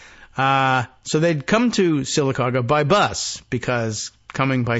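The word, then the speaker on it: Sylacauga: to this town in Alabama which is uh silaga is the name of the town I think we even have the pronunciation about right s y l a c a u GA a silaga uh so they'd come to silaga by bus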